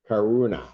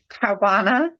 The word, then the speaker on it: Caruana: I know why that is, because we're trying to put syllables together that don't belong together in her name. That's why we're pronouncing it the wrong way. Yeah, the R and the U are kind of a separate thing. Yeah. We're running them together.